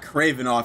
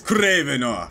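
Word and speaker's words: Kravinoff: It's not Kravenoff. It's Kravenoff. You gotta roll your R's.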